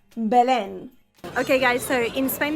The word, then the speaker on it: Belén: No, don't get the pronunciation wrong or mistaken by something else. Belén.